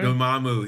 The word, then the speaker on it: Dormammu: Dormammu.